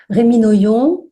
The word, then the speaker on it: Rémi Noyon: Rémi Noyon, j'espère que je prononce bien votre nom, Rémi. Oui, non, ouais, c'est ça.